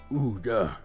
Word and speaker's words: Ouya: I remember the day that they released that soundbite of how you actually pronounce that word. Ouya.